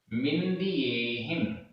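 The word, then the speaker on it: मिंदियेहिं: उपभोज्य, उपभोज्य, मिंदियेहिम, मिंदियेहिम, उपभोज्य, मिंदियेहिम, उपभोज्य आधा जा पूरा जा, मिंदियेहिम में सब जगह छोटी ई की मात्रा है।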